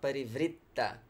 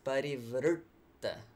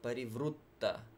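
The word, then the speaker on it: parivṛtta: buddy fruit berry fruit you can hear the depth that comes from that curled tongue yeah so again not pareve RIPTA but parivrtta ruh ruh in India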